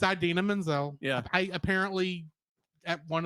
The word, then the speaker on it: Idina Menzel: I said Idina Menzel. Idina, yeah. Okay, I've heard it both something like Idina Menzel.